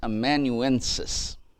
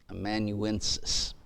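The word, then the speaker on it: amanuensis: across as you study these matters and it's immanuensis do you want me to spell that one a m-a-n-u-e-n-s-i-s immanuensis we use the word a lot of times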